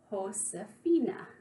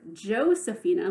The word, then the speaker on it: Josefina: pronounce it remember that in Spanish J is pronounced like H that means ho Safinaz name is pronounced host Safina so instead of Josefina with a J in